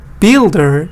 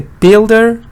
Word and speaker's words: builder: I asked the builder to rebuild the wall. You see how the pronunciation is different. Builder is a noun, stress on the first part.